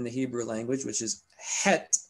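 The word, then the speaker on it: חית: Now, remember, we talked about two interesting letters in the Hebrew language, which is het, which is mispronounced today by Jews as chet.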